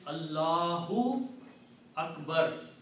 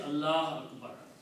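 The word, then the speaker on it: الله أكبر: But if the word is in the beginning or in the middle, you have to pronounce it. So you have to say Allahu Akbar. You cannot say Allah Akbar.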